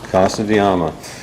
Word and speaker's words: Casa de Amma: And Guy is going to give us a tour of, you pronounce, Casa de Amma. Casa de Amma.